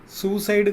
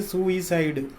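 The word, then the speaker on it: suicide: सुसाइड कहते हैं हम, सुसाइड नहीं है, सुइसाइड. ओरिजिनल प्रोनाउंसिएशन यही है.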